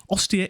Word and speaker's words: Ostia: the italian peninsula there and we say ostia s proper okay so we were